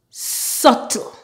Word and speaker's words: subtle: middle PL ummer plumber words that don't follow this rule but the B is silent are death doubt subtle thank you very much